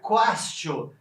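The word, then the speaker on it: quaestio: Porque castio lembra questionar, porque em latim se pronuncia quastio, e em latim questio quer dizer pergunta, quer dizer questão, né?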